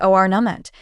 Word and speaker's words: ornament: The correct way to say it is ornament. The stress is on the first syllable.